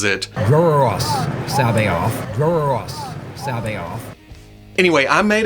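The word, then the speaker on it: C'baoth: I've always said something like Jorus Sabaoth, but it's been going around that Timothy Zahn actually pronounces it Jorus Sabaoth.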